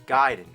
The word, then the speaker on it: Gaiden: Everyone always said Ninja Gaiden, but I know for a fact it's Gaiden.